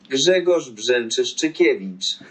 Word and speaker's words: Grzegorz Brzęczyszczykiewicz: No, it's the E with the squiggle, so it's an N, an E sound. Brzeziekiewicz. Brzeziekiewicz. Brzeziekiewicz. Gregorz Brzeziekiewicz. And the solution is? Grzegorz Brzęczyszczykiewicz.